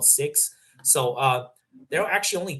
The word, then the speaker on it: Sikh: So, like the people that wear turbans, they're called It's like S I K H, but it's pronounced the Sikh. Yeah, that's what their religion is called. They're called Sikhs.